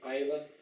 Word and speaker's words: Islay: Ardbeg é uma destilaria escocesa localizada na ilha de Islay, escreve-se Islay, pronuncia-se Islay.